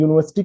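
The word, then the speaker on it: university: वो ये है कि यूनिवर्सिटी की जो प्रोनंसिएशन है वो यू है कौन सा यू वाई ओ you later you है लेकिन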